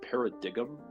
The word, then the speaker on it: Paradigm: Paradigm Shift it's spell spelled like par digam it's like p a